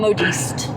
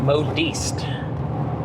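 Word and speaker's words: modiste: Um modist. Modist. Mhm. Ah. It's not a word I'm familiar with. Um, having that at the old lexicon, uh, modist. It's like modest but slightly different, which is interesting.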